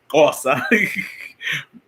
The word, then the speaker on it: Xhosa: He don't say it because it sounds like Tosa, but we know it's Xhosa. I always got to make sure you click. So if I don't say it right, at least they can say, at least he clicked. He made sure he clicked.